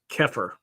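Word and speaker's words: Xeper: Sedians engage in magical workings to en enhance their zepher, an Egyptian term pronounced oh sorry it's pronounced keir adopted by Aino meaning to become or self-evolution. Keer introduced as the word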